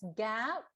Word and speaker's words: GAAP: you see this one g-a-a-p or the person pronounce it just as gab did you hear that